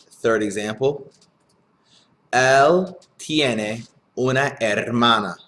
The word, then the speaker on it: hermana: Él tiene una hermana. Remember, the H is silent. Hermana.